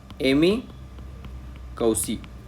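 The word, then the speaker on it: Emi Koussi: यहां पर दिखाई देता है जिसका नाम है एमी कौसी ओके इसका स्पेलिंग क्या है ई एम आई के ओ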